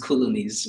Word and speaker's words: Coloniz: So I think I would like to start with citing the fact that it's it's actually pronounced colonies but it seems like a little person keep calling it.